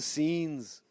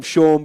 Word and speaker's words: Sean: what's your name mate sean spell it s-e-a-n you called scene norm norm called sean all right mate let's